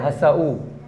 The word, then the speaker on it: हसऊ: तो यहाँ पे हस के साथ में जब ऊ लिखेंगे तो हसू नहीं करेंगे, क्या करेंगे, हसऊ, हसऊ, स अलग आएगा, ऊ का उच्चारण अलग आएगा, हसू नहीं आएगा क्योंकि अलग से है।